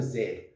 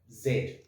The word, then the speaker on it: Z: zed tarot or tarot z or z as americans say in south africa we pronounce that zed okay now interestingly enough